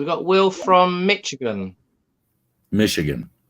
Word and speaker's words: Michigan: Michigan. It's pronounced Michigan. USA. There you go. So think of it as M-I-S-H, not C-H.